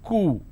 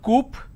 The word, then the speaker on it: coup: derivatives apartment disagreement dislodge c-o-u-p is cool it's not Coop or cowp it's cool isolation quarantine gesture lot